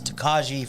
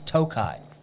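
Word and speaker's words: Tokaji: what's funny is it got really popular on like TikTok, and everybody was like this Takaji finish, Takaji. What you don't understand it's Tokai.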